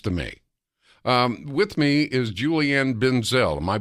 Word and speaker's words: Julianne Benzel: With me is Julianne Benzel. Am I pronouncing your name, ma'am?